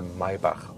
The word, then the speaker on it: Maybach: it will get a Maybach version. Maybach, listen and repeat. Maybach. That's the German lesson for today, because the CH we don't pronounce like k, but k. So Maybach.